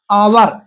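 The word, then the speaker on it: hour: है ना, एन आवर, हावर नहीं पढ़ते इसको, क्या पढ़ते हैं? आवर, इसलिए आ से आहा तक के उच्चारण में हम क्या प्रयोग करते हैं?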